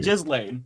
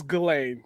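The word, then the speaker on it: Ghislaine: It's It's spelled that way, but I think it's pronounced as Gain. Yeah. No. Okay. Go to one of the the um how to pronounce videos. It is Jiz Lane.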